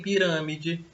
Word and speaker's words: pirâmide: E em pirâmide, a sílaba tônica é ran, né, a antepenúltima.